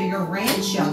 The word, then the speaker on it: Urantia: right now called the Urantia book that is spelled u-r-a-n-t-a-t-i-a u-r-a-n-t-i-a Urantia the Urantia book and um